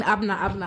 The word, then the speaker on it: Abena: And you said Abena, is that the full pronunciation? I'm saying Abena yeah, since.